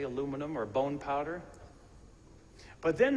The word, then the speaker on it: aluminium: It's probably just aluminium, as the British say, aluminum or bone powder.